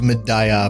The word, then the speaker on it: Mediah: much hyped medah update now I know that's going to trigger some folks but there's an NPC in game that pronounces it that way so I'm pretty sure I'm right on this one but anyway it adds